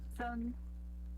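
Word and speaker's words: 三: San, que é o primeiro tom.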